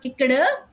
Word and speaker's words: kicked: It is not kicked. D sound, not pronounce it as T. Here D pronounces as T.